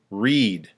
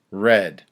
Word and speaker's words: read: different in the present read in the past read the past participle read read read read same spelling different pronunciation so they read some